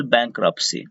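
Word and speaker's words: bankruptcy: Now spell बैंक्रप्सी, Hindi होती है दिवालियापन लाना। बैंक्रप्सी का स्पेलिंग ध्यान दे दीजिए, इसमें टी साइलेंट होता है, टी का उच्चारण नहीं होता है।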